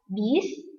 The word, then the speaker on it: bus: Ada juga bis, harusnya penulisannya adalah bus, walaupun kita membacanya bis.